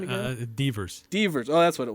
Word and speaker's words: Devers: Devers.